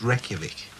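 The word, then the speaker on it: Reykjavík: reykjavik nearly that's right rake jarvik reykjavik it's pronounced reykjavik well reykjavik in english red jarvik and icelandic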